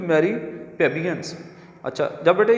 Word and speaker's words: plebeians: तो PLEBEIANS आता है, लेकिन इसमें हम लोग जो है प्लेबियंस में एल को जो है वो हम साइलेंट कर देंगे। पैट्रिशियन, पैट्रिशियन ये तो लॉर्ड नवाब जो होते हैं अरिस्टोक्रेट उनको बोलते हैं प्लेबियन। प्लेबियंस ऑर्डिनरी आम किस्म के जो लोग होते हैं, गरीब लोग, प्लेबियंस। अब प्लेबियंस को देखें तो बेटे इसमें एल भी है, लेकिन हमने यहाँ पे जो एल है इसको हमने नहीं बोलना, हम इसको साइलेंट कर देंगे।